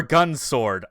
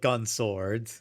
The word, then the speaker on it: Gun X Sword: Or Gun Sword, I guess it's supposed to be. I don't know. The X is silent.